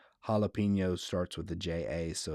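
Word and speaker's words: jalapeño: J is pronounced H or he in Spanish, like Jose. Yeah, or jalapeno. If you JA is ha, so but JA with it's JAP, right? Jalapeno.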